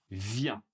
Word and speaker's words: vient: Il elle vient. Il elle vient cette fois-ci un t mais il n'est pas non plus prononcé.